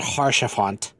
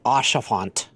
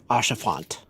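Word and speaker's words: Haurchefant: Yeah, by the way, it's not Harshafant. It's Ashafant. Ashafont because it's French.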